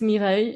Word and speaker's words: Mireille: It's Mireille in French, but really hard to pronounce.